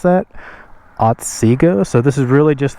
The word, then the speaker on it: Otsego: Again, this is Otsego Lake, I think is how you pronounce that. Otsego.